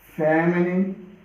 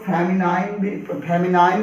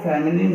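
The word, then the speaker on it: feminine: रख देते हैं, मैस्कुलिन, फेमिनिन, या इसको कुछ लोग फेमिनाइन भी पढ़ते हैं। वैसे हमारे जो प्रोनाउंसिएशन है वो फेमिनिन है।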